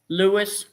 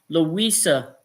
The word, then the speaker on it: Louisa: Lewis Rivera, 68. Excuse me, I pronounced it wrong. I missed the A. Louisa Rivera, 68.